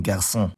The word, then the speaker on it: garçon: cédille, or la cédille, is attached under a c to indicate that it's pronounced s despite not being before e, e, or y, like in garçon.